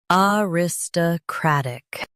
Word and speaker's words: aristocratic: Aristocratic. Now, read the syllables of British pronunciation shown on the screen naturally. Uh ris- t- crat-ic. Aristocratic. Uh ris- t- crat-ic. Aristocratic. US stress crat. UK stress rat.